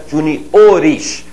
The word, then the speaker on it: juniores: um tracinho ali né Juniores Essa é a pronúncia J ores da mesma forma Sênior seniores a célula tônica avança a gente ouve muito